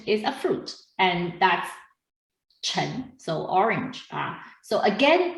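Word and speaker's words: 橙: to wealth but also chen is the same pronunciation as chen means success so a lot of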